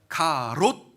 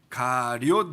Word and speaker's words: 가리옷: 가롯 아니고 가리옷입니다. 가리옷 유다.